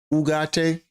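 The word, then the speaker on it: Ugarte: Ugate. That's how you pronounce his name. Ugate.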